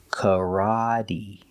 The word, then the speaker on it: karate: We have the R, ra, kara. This is the open ah sound, the short ah, like stop and hot, kara. The T is pronounced with a D, so we say kara-D, making the long E sound like green beans, karate, karate.